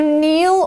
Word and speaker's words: kneel: all right so to kneel or kneeling you can say you can see this is spelled with a k-n-e-e-l the k is silent so to kneel means